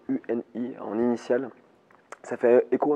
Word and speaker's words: Uni: Donc, ça s'écrit UNI en initiale. Ça fait écho un peu à mon ancien album qui s'appelait Initial justement. Donc là c'est Uni. Et en anglais ça se prononce You and I, toi et moi aussi, c'est des initiales.